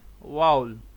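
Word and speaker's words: vowel: वाउल जिसे आप वॉवल पढ़ते हैं, करेक्ट प्रोनाउंसिएशन क्या है इसकी, करेक्ट प्रोनाउंसिएशन है वाउल।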